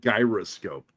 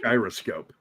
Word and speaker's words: gyroscope: __ ] weird and the way Jean Barry pronounces calls it gyroscope uhuh it's gyroscope it's gyroscopic yeah it's a